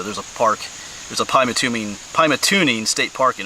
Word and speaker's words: Pymatuning: was saying it wrong I was saying it pat tuming It's Pat tuning oops there you go